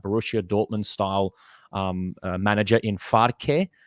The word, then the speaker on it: Farke: They've got that Borussia Dortmund style manager in Farke. I think that's how I heard people saying his name, Farke.